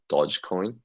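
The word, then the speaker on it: Dogecoin: i looked it up greg and it is pronounced though dodge coin dog equine not dog equine which is what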